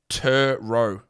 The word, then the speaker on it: Turo: gonna be a pronunciation guide here turo is pronounced tur row turo turo my guy really turo turo is